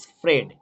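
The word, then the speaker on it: spread: স্প্রেড, এখানে এটা silent, স্প্রেড, এটা উচ্চারণ হচ্ছে SPRED, কিন্তু এর এখানে উচ্চারণ নয়, কিন্তু এটা রয়েছে।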